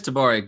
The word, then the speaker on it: Tabari: introducing our headliner this week tabari is it tabari yes it is tabari good work sir dabari yes my first